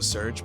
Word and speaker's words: Serge: so I called listen I say Serge I know some people want me to say Sergei like voice it's spelled here yo Sergey see now